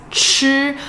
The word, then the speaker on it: 彳: So this radical is actually pronounced as 吃, but a lot of people will refer to it as the side with the two 人 s.